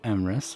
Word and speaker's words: Emrys: Hello, Emrys. Hello, Emrys, rhymes with abyss.